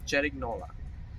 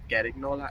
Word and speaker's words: Cerignola: Cerignola. So it's not Carignola, it's not Cerignola, but Cerignola.